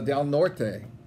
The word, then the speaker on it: Del Norte: Kelsey Bell you know when somebody from del North tells me that Todd's pronounced all pronouncing noise oh man it's down or day so del Norte loses the coin flip